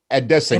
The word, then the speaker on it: Adesanya: He's the only person in the world that pronounces it Adesanya. And he's the only one that pronounces it correctly.